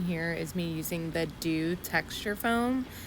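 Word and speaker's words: Doux: So what you're seeing here is me using the Dew texture foam. It's spelled D-O-U-X texture foam.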